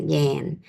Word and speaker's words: Yan: Jan, like when you spell, pronounce like when you yawn, but it's spelled Y-N, so most people spell it, pronounce it Yan.